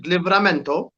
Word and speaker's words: Livramento: Say his name correctly. His name is Livramento.